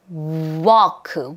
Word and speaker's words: walk: walk. W가 아니라 are 떨어져야 돼요. walk. W 그렇죠? 자, 그다음에 L 사운드 있어요? 없어요? 여기 없어요. 여기 속으시면 안 돼요. W 이러시면 안 돼요.이 사운드는 뭐예요? 그렇죠? 없어요. 무궁이에요.